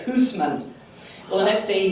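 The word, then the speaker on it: Housman: He said it's not Houseman, it's Hoosman.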